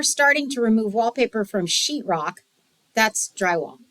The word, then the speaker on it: Sheetrock: to remove wallpaper from sheetrock, that's drywall. Right? Drywall. That's professional talk, drywall. Yeah. Sheetrock. Yeah. And sheet is spelled SHEET, not SHIT or anything like that. It's not shitrock, it's sheetrock. Sheetrock.